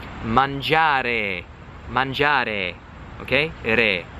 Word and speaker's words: re: Re.